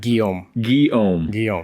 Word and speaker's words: Guillaume: Guillaume. Okay. So the way I say it is the Guy part, and then Om.